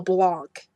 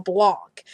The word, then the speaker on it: Blanc: reply nice vid but you mispronounced Mel blanks name pnau smell Blanc and um this actually was referring to my top 15 facts on the Looney Tunes video and in that video I kept pronouncing Mel blanks last name is Mel Blanc and when I saw